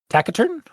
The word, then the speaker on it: taciturn: So, it's a soft C, okay.